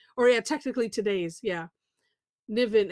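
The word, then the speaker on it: Nyvyn: Um it is uh I another I don't figured out how to pronounce it, Niven. Or yeah, technically today's, yeah. Niven, n y v y n by Teresa Fassett.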